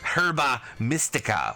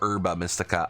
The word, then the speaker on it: Herba Mystica: Titans and nabbing their herba mystica or urba mystica I've always pronounced it herb like a silent h i know Chris you've